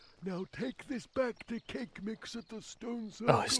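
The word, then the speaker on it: Kaqemeex: there we go now take this back to cake mix at the stone oh his name is supposed to be pronounced cake mix ready okay joke is that's a funnier name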